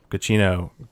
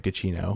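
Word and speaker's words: Giacchino: i think michael uh cuccino i think it's how you say his name um guccino or something like that anyway cappuccino no it's it's g-i-a-c-c-h-i-n-o so it's like gachino yeah i think that's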